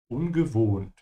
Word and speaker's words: ungewohnt: The O here is a bit longer because there's an H after it. Yeah. And as usual, the W is a V. Yeah. Ungewohnt.